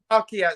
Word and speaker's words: Halkias: Is that how you pronounce it? Yeah. Halkias.